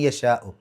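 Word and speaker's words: يَشَاءُ: അപ്പോൾ മൻ യശാ, യശാ എന്നുള്ളിടത്ത് മദ്ദും ഹംസയും അടുത്തടുത്ത് വന്നു, ഒരേ പദത്തിൻ്റെ ഉള്ളിൽ നിർബന്ധമായും 4-5 അക്ഷരങ്ങളുടെ ദൈർഘ്യം നീട്ടണം.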